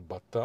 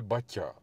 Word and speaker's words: Baťa: jako rodilého inda a on pořád jak něco říkal bata a bata a já jsem mu jako taktně naznačil že se to vyslovuje Baťa a on nechápal proč a jak a tak jsem mu řekl No on je tam Takovej ten háček t u toho t jako v mém přímení